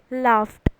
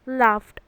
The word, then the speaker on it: laughed: English language learner will pronounce the word laughed as laughed because it ends in the letter H, but that is not correct. The correct pronunciation for this word is laughed because it ends in the sound F.